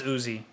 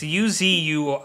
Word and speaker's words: Uzui: I think it's Uzi. It's Uzui.